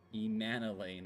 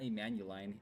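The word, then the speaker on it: Emmanellain: Emanolane. Okay. Not not Emanuelain. Emmanuelain. Okay. I was close.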